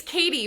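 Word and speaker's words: Cady: It's Katie, but it's spelled Caddy, so people call...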